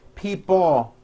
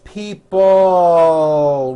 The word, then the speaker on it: people: this last word people it's not pronounced people with your tongue not moving it's people with your tongue slowly moving up and your jaw remaining down stretch out that l sound people like that here